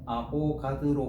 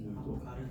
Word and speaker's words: 아보가드로: 이름 이상하게 얘기하지 마라. 알겠지?이 희한 이게 아보가드로라는 이름이 좀 어렵나 봐. 그러다 보니까 어떻게 발음하는 애들이 생각보다 몇년 나오는데 아볼가르 저 봐봐 있지? 아보 가르도 희한해.